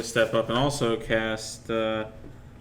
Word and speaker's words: thaumaturgy: All right, and I'm going to step up and also cast thaumaturgy. How do you pronounce that?